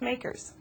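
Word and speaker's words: MACRS: accelerated cost recovery system it's commonly referred to by its initials M A RS and pronounced makers under Section 179 of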